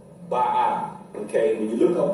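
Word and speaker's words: Baal: Okay, this don't say bio or bio, it's ba'a, because the ayin make more of a ah sound.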